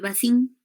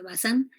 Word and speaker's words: Bazin: eritema hindú lado de bazin se pronuncia bazán a él y quien